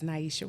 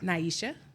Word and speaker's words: Nyesha: that so who are you my name is Naisha all right Naisha all right pronounce that one more time Naisha Naisha you know I've been calling you na